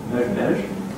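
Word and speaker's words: מעזשביזש: In Yiddish, it's Mezhbezh. Does anyone know Polish here? No. So here in Polish, it's pronounced rather differently, but the Yiddish is transliterated Mezhbezh.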